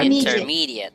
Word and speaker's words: intermediate: Now, when we say that word, does it have a J sound? Yes. Intermediate. Correct Intermediate. answer is there should be no J sound.